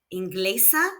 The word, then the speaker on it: inglesa: Enga has no accent and ends in a vowel. So the second to last syllable has the stress.